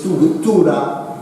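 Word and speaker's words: Tuğra: And this is his kind of thing, his Tura. The G is like an I, okay? This G in modern Turkish, it's like the Maltese I, you don't pronounce it.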